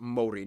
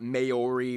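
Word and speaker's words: Māori: Korea and Japan yes by the way it's pronounced Mori not mayori Maui they use the New Zealand dollar as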